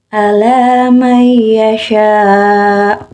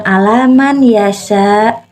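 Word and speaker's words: عَلَىٰ مَنْ يَشَاءُ: Contohnya, ala may yasha. Jadi di sini bukan alaman yasha, tapi nun matinya melebur ke ya.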